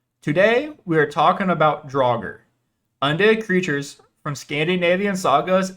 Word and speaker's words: draugr: old norse undead creatures can't be pronounced draugr or as draw or if you're talking about multiple draugr as dragar they are also mentioned